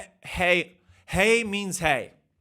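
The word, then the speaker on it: hej: The front entrance says hedge. I actually just looked it up and it actually is just pronounced hey.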